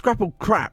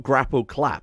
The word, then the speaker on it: Grapple Krap: bit of a slight if it's grapple crap not grapple clap I kept calling him grapple clap and grapple crap thinking that grapple clap was right but I kept saying it wrong but I was saying